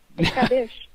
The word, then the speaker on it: Natib Qadish: which you call, and I don't know if I'm going to pronounce this correctly, but I'm sure that you will correct me. Natib Qadish, and that's what. Yeah, that's pretty good. That works for me. Qadish. Yes, and that's the modern Canaanite religion.